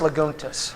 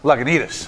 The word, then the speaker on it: Lagunitas: very symbiotic right sort of relationship so whereas lagunas Lagunitas Lagunitas and that's a fresh and it's and